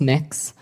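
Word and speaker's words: Mx.: It's pronounced mix.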